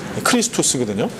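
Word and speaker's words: Χριστός: 그리스도의 헬라식 발음이 크리스투스거든요.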